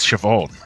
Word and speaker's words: Siobhan: now this caused all kinds of conflict for siobhan i think that's how you pronounce it lee is that right yes it is siobhan yeah yeah and stockade and i'm telling you